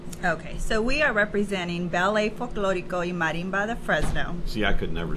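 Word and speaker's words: Ballet Folklórico y Marimba de Fresno: Okay, so we are representing Ballet, Folklorico y Marimba de Fresno.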